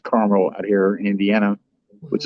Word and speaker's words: Carmel: private investigator based out of carmel indiana not carmel it's pronounced carmel out here in indiana which is a suburb